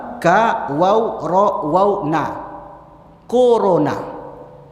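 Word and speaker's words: كورونا: Corona. Corona. Bacanya tuh kuruna.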